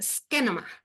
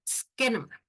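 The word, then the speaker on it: σκήνωμα: Así en griego se escribe como está ahí, y se dice skenoma, por si quieren aprenderlo, skenoma.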